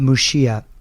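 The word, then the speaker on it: Muxía: I've got a question about Mushia. And if anyone doesn't know how that's spelled, that's m u x i a. It's the ggo the galian pronunciation of the x mushia.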